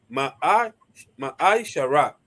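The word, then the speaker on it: מעשר: del 8 al 10, que significa décimo en hebreo y se pronuncia Ma'ai Shara.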